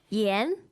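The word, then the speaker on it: 盐: those two things what how do you say salt in Chinese Yen Yen Yen yes second tone exactly Yen Yen and uh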